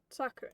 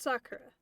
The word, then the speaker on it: Sakura: Sakura. So it's Sakura. Without the roll. So if I don't, because I can't roll my R's. So I just say Sakura, not Sakura.